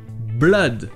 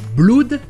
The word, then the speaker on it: blood: Blood. Ce n'est pas blood, c'est blood. C'est le son E qu'on a vu tout à l'heure dans done, Monday ou one.